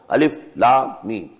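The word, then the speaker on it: الم: Not pronounced as Alif Lam Mim Alam, no. Alif Lam Mim.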